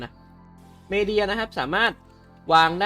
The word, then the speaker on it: Medae: มัน เรียก ว่า ไง มัน อ่าน ว่า Media นะ ครับ ชื่อ ชื่อ ใน เกม นะ ไม่ ชื่อ ใน ตัว ของ การ์ตูน นะ Media นะ ครับ สามารถ วาง